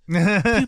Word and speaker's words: Pugh: decade to be in that discussion is Florence Pugh. And every time you say her name, you have to do finger guns. Pew, pew, pew, pew, pew.